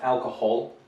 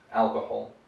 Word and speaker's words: alcohol: It's alcohol, so it's a H sound, it's not a G sound. alcohol, right?